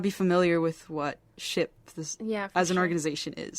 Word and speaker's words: SHPE: so like I said ship stands for a society of Hispanic Professional Engineers if you're from the East Coast you might hear it pronounced Shep I don't think that's right I don't think that's